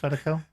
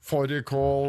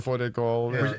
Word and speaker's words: Fårikål: Isn't that your national dish, fadakal? Lamb and stew. That's what he'll be doing. Fårikål or Fårikål. Fårikål. Tor didn't get your Norwegian pronunciation there.